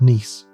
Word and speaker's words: Nice: According to the Niss model, named after the French city pronounced Nice, the giant planets in our solar system didn't form in their current locations.